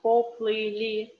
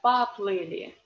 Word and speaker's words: поплыли: This о is in unstressed position again. That's why we read not поплыли, but поплыли.